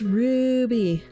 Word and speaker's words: Ruby: murdering though Ruby you never say my name right it's Ruby oh is because she's like a dog it's like oh you got to say it with the like AR y AR okay so Ruby there